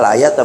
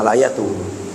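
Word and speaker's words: الآيةَ: Bacanya al-ayata bukan al-ayatu.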